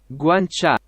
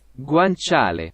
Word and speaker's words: guanciale: heard that then nice but i didn't guanciale guancha guanciale guanciale there we go now i can hear it guanciale is pig cheek by the way oh uh